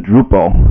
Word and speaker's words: Drupal: so so it was renamed to Drupal which is actually how you pronounced to hop to the pole in in Dutch so so just as